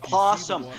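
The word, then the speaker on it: opossum: a that's an aasum it's pronounced posum the always silent you normal person if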